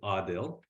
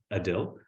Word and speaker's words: Adil: Jim and and so it is pronounced Adil uh it's like an awe still well now that we're